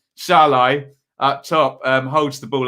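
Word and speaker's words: Szalai: We'll give you a time sync as big Shazalai. Well, I'm not supposed to pronounce the Z, am I? Shalai up top holds the ball up straight away.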